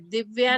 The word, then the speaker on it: दिव्य: इसको दिव्य बोलना है, दिव्य, दिव्या नहीं दिव्य बोलना, है ना?